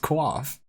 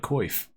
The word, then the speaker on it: coif: It's actually pronounced quaff. Didn't Goody called it a quaff too in his latest video, I think. It's because it's actually pronounced quaff. I always called it coif. It's not.